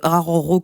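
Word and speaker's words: Araújo: Du coup, il me semble que on prononce Araro quand c'est écrit A-R-A-U-J-O.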